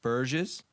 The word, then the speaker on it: Burge: Lee, Vince Masuka, Dora Burgess. Did I say it wrong? It's okay. How did I say it right? You were close. Burge. Burge. Burge. Burge. Yeah. Oh, there's no S.